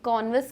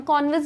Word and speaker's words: canvas: Colour का जो ये कॉन्वस कपड़ा था, हम कॉन्वस भी कह सकते हैं, कैनवस भी कह सकते हैं, both the pronunciations are correct in this sense.